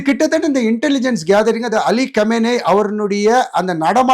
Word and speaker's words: Khamenei: நிறைய பேர் வந்து கொமேனி கொமேனி சொன்னது தவறு. அயோத்துல்லா கொமேனி வந்து 1979 இஸ்லாமிய புரட்சி ஏற்பட்டு 83ல ஒரு உயிர் இழந்த பிறகு இவர் அலி கமேனி அப்படி சொல்வதுதான் சரியான உச்சரிப்பு பல இந்திய தொலைக்காட்சி உள்ள